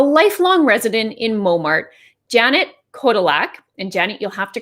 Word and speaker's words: Kotylak: It's Kotylak, but Kotylak is often how people say it. So we're okay, Kotylak.